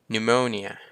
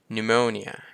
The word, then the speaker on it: pneumonia: rasberry rasberry ก็ rasberry นั่น เอง ต่อ มา pneumonia pneumonia ก็ คือ โรค ปอด ปวม นะ ครับ ผม